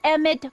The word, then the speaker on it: Emmett: That's Emmett Brown. Rhymes with clown, which I'm beginning to think you are.